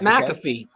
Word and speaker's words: McAfee: his last name pat mcafee mcafee okay i'm saying the cafe i was i was emphasizing the wrong thing pat matthew he was